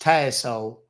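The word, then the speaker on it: Tassole: It's pronounced Tassel.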